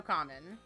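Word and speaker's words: 仮面: it's Tuxedo Mask but in Japanese it's tuxedo common because common means mask in Japanese so they called him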